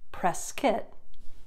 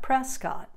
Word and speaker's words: Prescott: this city which is pronounced press kit not Prescott if you say Prescott it's a dead giveaway